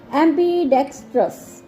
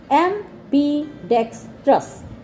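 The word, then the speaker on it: ambidextrous: की कह जो दोनों हाथ ना लिख सके एम्बीडेक्स ट्रस ठीक है एम्बी एम्बी डेक्स ट्रस ठीक है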